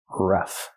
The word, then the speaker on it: rough: R-ruff plus the f sound f like flowers. Ruff.